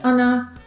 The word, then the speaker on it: gonna: Very often, gonna is further reduced to ana, which means that the G falls away and we only pronounce the schwa a plus na, as in, I'm gonna let you know the results tomorrow.